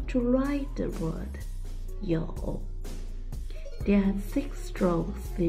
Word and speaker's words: 有: today I will teach you a new word yo yo yo yo it sounds like you you yo is the third when you pronounce the O you need to open your mouth first oh and then 40-inch